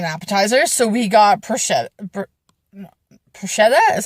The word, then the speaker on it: bruschetta: we wanted an appetizer so we got Pusha bruschetta is how you say it the bread with